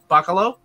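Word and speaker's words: Bachalo: though yeah chris uh what's his name uh buccalo yeah you that's how you say it um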